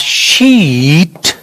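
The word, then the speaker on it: sheet: मैंने ये लिखा, मैंने ये लिखा, तो मैंने यहां पर बोला आई वॉन्ट, नीचे लिखता हूं I want a शीट टू write an application.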